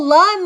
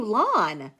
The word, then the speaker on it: Lun: remind me um l oh Lun like London I've been calling you lwn y'all not me pronoun